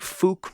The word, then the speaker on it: Fouke: This is the Fouke Monster.